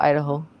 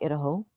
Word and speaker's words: Idaho: It's just been a long time cuz living in Utah, so close to Idaho. But when I hear people call it Idaho, I'm like, it is not Idaho. It's Idaho or uh they'll call Nevada instead of Nevada.